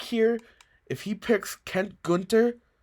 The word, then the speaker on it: Gunter: But I think here, if he picks Kent Gunter, I'm gonna pronounce him Gunter like it's a German last name.